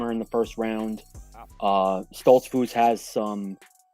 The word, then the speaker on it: Stoltzfus: Yep, Dustin Stoltzfus.